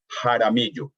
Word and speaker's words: Jaramillo: In our part of the world, your last name will be pronounced Jaramillo with J. Oh, right. Interesting. Yeah. I mean, my dad would say Jaramillo, and the opening sound is not ja, but ha.